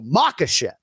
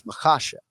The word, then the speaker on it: Makhachev: Now, you know in your head that it's just emphasizing the second syllable. Sure. But people just want to go Makhachev, right? Right. And it's Makhachev, right? Makhachev. There it is. So just hit that second syllable.